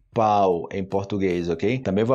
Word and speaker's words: pau: isso tipo quando eu tô ensinando o pão pau pão pão pão Ai meu Deus eu tô